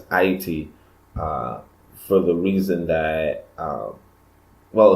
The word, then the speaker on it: Ayiti: and IAT and she she insists that me pronounce what others would call Haiti as IET for the reason that